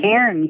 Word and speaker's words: cairn: Is it a cairn? Is that how you pronounce it? A cairn, yes, a cairn.